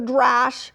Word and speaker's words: Drash: Then you go to what is called the Drash, which rhymes with Midrash.